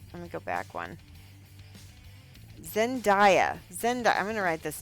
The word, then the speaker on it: Zendaya: If you saw that show, Zenyatta did a pink wig, or Zendaya. Why do I keep saying her name wrong?